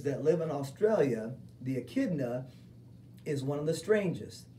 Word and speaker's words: echidna: It looks like echidna, but actually the CH is the K sound, so you pronounce that echidna.